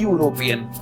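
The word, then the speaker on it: European: जैसे आप देखें यूरोपियन, ई से शुरू हो रहा है वो शब्द, ई यू आर ओ पी ई ए एन, उच्चारण है यू।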